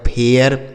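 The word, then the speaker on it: fair: इसे पढ़ा जाएगा फेल एफ ए आई आर एफ से हो गया फ ए आई का उच्चारण ए आर से र इसे पढ़ा जाएगा फेयर उसके बाद एच ए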